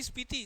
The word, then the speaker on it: स्पीति: हाँ, आपने प्रीति लिखा क्या? नहीं, स्पीति, स्पीति।